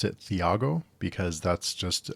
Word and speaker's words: Thiago: The next one is A Touch of Light by Thiago Abdallah, and I always pronounced it Thiago because that's just how I read it, but it is Thiago, so apologies for that.